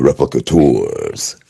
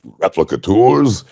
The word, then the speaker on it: Replicators: to say, replicators, the replicators. And so we just walked over. He's like, "What? No, you can't say it like replicators. It's replicators. They're called replicators."